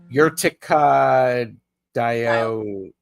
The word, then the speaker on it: Urtica dioica: You pronounced it correctly. Did I? Urtica dioca, right?